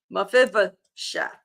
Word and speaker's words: Mephibosheth: And here's the pronunciation of Mephibosheth. Mephibosheth.